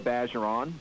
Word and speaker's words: Bergeron: Number 8 at cornerback is Jordan Bergeron. Or Bageron, by the more proper pronunciation for our area.